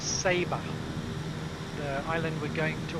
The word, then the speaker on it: Saba: they tell us that the correct pronunciation is sabre the island we're going